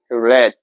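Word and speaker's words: read: এখানে কিন্তু হচ্ছে কি স্পেলিং একই কিন্তু উচ্চারণটা হবে রেড ঠিক আছে তারপর এ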